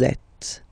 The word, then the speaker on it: êtes: Vous êtes. Same thing here. Notice that final S is not pronounced. Et.